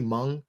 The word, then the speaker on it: Hmong: I pronounced it wrong is it simply Hmong is that how you pronounce it yeah the H is always throws me and I'm like I